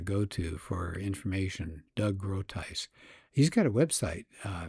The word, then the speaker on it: Groothuis: That's g r o o t h u i s. First name Douglas. Last name is pronounced Groothuis.